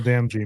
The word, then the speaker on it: Damji: The one that I like the most is Jamil Demzi. I think he kept it. That's how you pronounce his last name, right? Jamil Damji, man.